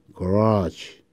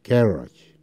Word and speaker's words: garage: 보면 차고 미국 사람들은 garage 두 번째 있습니다. 나 영국은 garage 하죠. 예.